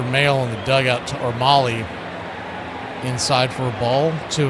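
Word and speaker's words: Mahle: And I'd always heard mail the whole time he was in Cincinnati, but now that he's went he's been out in San Fran a couple other stops, they're now saying he pronounces it Molly.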